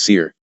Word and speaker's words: CIR: It was recognized by the acronym CIR, pronounced SEIR.